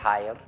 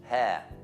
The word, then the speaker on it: hair: È importante la pronuncia di hair. Non c'è R, non è hair, it's hair. H molto importante, perché se non c'è l'H vuol dire aria.